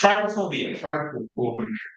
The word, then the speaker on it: trypophobia: Say pronounce it again, try. It's trypophobia.